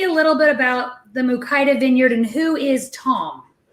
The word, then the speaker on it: Mukaida: mu kinda you say how do you say mu Qaeda it is mu Qaeda mu kaid a and that is Randy's